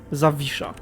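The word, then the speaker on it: Zawisza: just imagine that and imagine this sign this sign w as a v and that's basically how you pronounce it zavisha so i don't know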